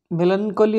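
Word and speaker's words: melancholy: भलो येटा तो मेलानकली ताको मेलानचली भी कहउची मेलानकली भी उच्चारण आछी एक्चुअली प्रॉपर ठीक मीनिंग ठीक उच्चारण मेलानकली हबो तो पिला माने से कौन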